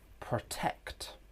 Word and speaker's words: protect: The first syllable is weak because we have a schwa sound.